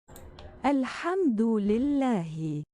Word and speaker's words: Alhamdulillah: Alhamdulillah. That's probably not how it's pronounced because I'm probably butchering